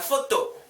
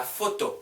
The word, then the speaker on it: photo: La photo, la photo, la photo. PH 붙어 있으면 F 발음 나와요. P 발음 아니에요. La photo, 그거 아니고. La photo, photo, photo.